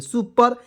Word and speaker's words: super: देखिएगा SU से होता है सु, P से प, और R से र, ई को इसमें साइलेंट करेंगे, सुपर।